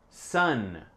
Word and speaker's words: sun: Répétez sun. Même si le mot s'écrit comme son en français, c'est s un an.